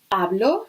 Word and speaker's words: hablo: speak much Spanish no hablo remember that we don't pronounce our Chi no hablo espanol I